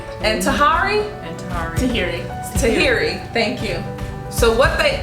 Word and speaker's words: Tahiry: saying it wrong and tahari and tahrir tahiri tahiri thank you so what they what we showed